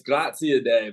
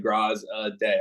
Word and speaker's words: Graziadei: been in middle school how to re-say my name, but it's Graziadei, but I would never expect anyone to say that. So I just say Graziadei. I try to break it down into those three different syllables so people can get it.